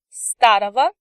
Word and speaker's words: старого: Старый will become старого. Синий will become синего. Молодой will become молодого. Note that as before, we pronounce consonant G as V in these endings.